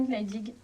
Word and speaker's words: Gnaedig: Gneidig, j'espère que je prononce comme il faut.